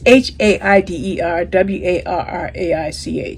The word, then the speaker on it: Haider Warraich: I want to bring this up because I think I have his name wrong in my spreadsheet. Yeah, HAIDER WARRAICH. Okay, it's HAIDER WARRAICH, so you can understand why I'm struggling with that.